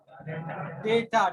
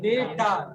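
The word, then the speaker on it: data: process ध्यान देना unprofessional डेटा डाटा नहीं बोलते है डेटा डाटा बोलने का जो उच्चारण है वो गलत है वो गलत है डेटा बोलते क्या बोलते है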